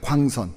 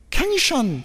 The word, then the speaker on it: 광선: 광선. 이게 이중 모음인데 이중 모음을이 미국 사람들이 발음을 잘못해요. 어느 날 저희 둘째가 초등학교 다닐 때 갔다 왔는데 갔다 오더니 저를 가르키더니 막 뭐라고 말을 하는 거예요. 아무리 들어봐도 이건 영어가 아니야. 뭘까 했더니 켄션 켄션 이러는 거야 저한테.이 이 뭐